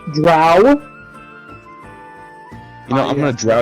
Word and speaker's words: drow: reason to use dancing also it's pronounced drow you know I'm gonna